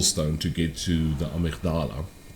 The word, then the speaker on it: amygdala: to get to the amygdala the amigdala as the british say but it was another